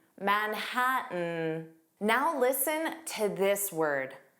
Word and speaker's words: Manhattan: The T in Manhattan wasn't pronounced. It sounded like Manhattan, Manhattan.